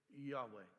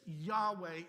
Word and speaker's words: Yahweh: This Yahweh is is pronounced in a way of air. The spirit of God.